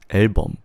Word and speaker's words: 앨범: Album in Korean is 앨범. It's 앨범.